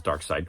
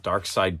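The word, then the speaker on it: Darkseid: mean it's to me it's always been spelled like dark seed but I believe his name is dark side he needs to find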